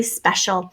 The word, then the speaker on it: special: We'll get more into this later, but sh in the middle of a word like this can often be spelled C-I. And then here's a sight syllable for us to start remembering, A-L, which really sounds like schwa L, special.